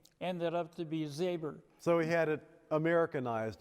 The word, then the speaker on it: Zabor: And when I introduce myself to new people, I say Zabor. But to those people who have known me for a while, I say Zabor. Because if I tell that to new people, they spell it with an E-R instead of an O-R.